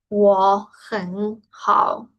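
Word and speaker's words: 我很好: Aquí hay tres tercer tono. Cada vez que hay así varios tercer tono, cae a segundo tono. Porque de por sí sería un poco complicado, ¿no? Es la pronunciación 我很好, 我很好, 我很好.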